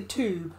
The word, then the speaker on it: tube: They say the tube. We're like, no, it's tube. We say it with a CH, but it's spelled with a T.